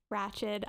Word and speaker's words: Ratched: the entirety of ratched ratchet oh i'm bad i always keep calling it raj because that's how it's spelled um we will never